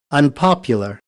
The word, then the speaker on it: unpopular: तो गलत हो जाएगा, अन के ऊपर स्ट्रेस नहीं है, स्ट्रेस पॉप के ऊपर ही है, जैसे कि फर्स्ट वर्ड में है वैसे ही उसके अपोजिट में भी स्ट्रेस वहीं पे रहेगा, अनपॉपुलर।